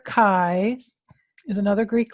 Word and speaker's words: chi: it so that letter Chi is another Greek letter and so this is called chi-square and it rhymes with Sky Square to help people read